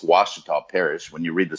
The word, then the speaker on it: Ouachita: It's Ouachita Parish. When you read the story about this amoeba, it's spelled with an O, but it's pronounced with a W because it's a native tribe.